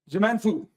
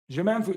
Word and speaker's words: Je m'en fous: Je m'en fous. Je m'en fous. The S is silent, just so you know.